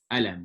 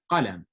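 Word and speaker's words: قلم: Like, we don't say alam, we say qalam, right? The qaf is a strong letter, but that's a proper way to say that, right?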